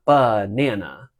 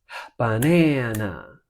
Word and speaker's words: banana: It's not banana, it's banana, right? The ba of banana is like a pickup into that word.